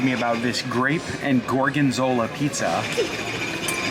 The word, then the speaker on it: gorgonzola: about this grape and gorgonzola pizza i called it garganzola in justin's video so i pronounced it fine on ours um one of you